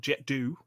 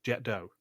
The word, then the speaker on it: Jet d'eau: It's not Jet d'eau. It's nothing else. It's Jet d'eau. That's how they pronounce it in Switzerland. That's how they pronounce it in France.